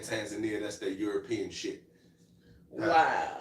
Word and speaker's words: Tanzania: so Roxalian Royalty said the way you said Tanzania is the African way, and the way your wife says it is the American way.